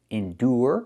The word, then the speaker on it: endure: Endure. We have the sound endure.